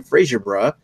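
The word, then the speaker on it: Fraserburgh: BrewDog was founded in April 2007 in Fraserburg. How do you pronounce that? Is it Bra or Berg? Bra.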